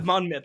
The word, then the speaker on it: Monmouth: And is it Monmouth? I can't remember how exactly. Yeah. Monmouth.